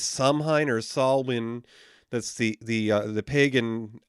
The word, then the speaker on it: Samhain: But yeah, I believe it's pronounced Samhain.